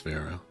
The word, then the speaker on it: Vero: Even if the character's name is Vero. It's meant to rhyme with Pharaoh, but you know, I'm not a Pharaoh.